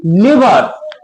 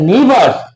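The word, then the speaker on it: neighbours: ডাক দেব এনই আই এবি ইউ আর এস উচ্চারণ কি? নেভারস। দ নেবারস।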